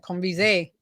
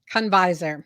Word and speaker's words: Conviser: I gave it the French accent, Conviser. Convisor. Convisor. That Yeah. just like it's spelled, just like it's spelled.